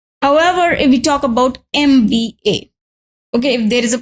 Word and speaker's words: MBA: Now, if you look at this word and if you try to make its pronunciation, it will be like M, okay, and this is A of Hindi Vyanjan, which is swar, sorry, A of Hindi swar or Hindi Varnmala swar. And if you want to spell it in English only, it will be like MBA. Okay, so here M, which is beginning with the vowel sound, therefore we'll write NM.